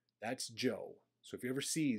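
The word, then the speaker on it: Zhou: h o u that's Joe so if you ever see Z houu that is Joe okay that's how it's pronounced at Le it sounds more like Joe the Joe dynasty was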